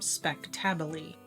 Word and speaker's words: spectabile: I'll put the spelling of the plant down in the description for you, and just to pronounce its name, it is Sedum speck-TAB-u-lee, and that way you